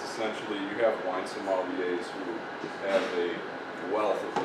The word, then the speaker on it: sommelier: Steve, so is it pronounced, what is it pronounced? Sommelier.